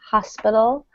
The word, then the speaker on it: hospital: the same with Hospital in some British accents the H is silent so they'll say un